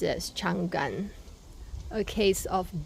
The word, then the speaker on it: Changan: with all the letters together the sales person pronounced it as Chang Gan yes how can a a person who's representing